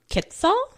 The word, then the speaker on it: quetzal: only places you can actually find this resplendent quetzal. Mm-hmm. I'm not quite sure how to pronounce that.